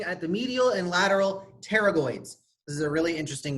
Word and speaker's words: pterygoid: the medial and lateral pterygoid this is a really interesting word the P is silent like in pterodactyl Tarot I'm not much